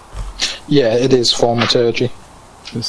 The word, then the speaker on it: thaumaturgy: That's not a shit pronunciation. Well, I could distract him. I think thaumaturgy is correct. Yeah, it is thaumaturgy.